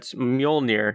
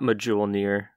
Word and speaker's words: Mjolnir: next section so the next section is module near not or mjolnir not medjool near like the audiobook Majoli